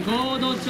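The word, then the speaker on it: 神戸町: さあ、バナナの住む合同町は漢字で神戸と同じ書き方をします。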